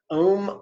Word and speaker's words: om: syllable is the syllable om om rhymes with the word home so here is the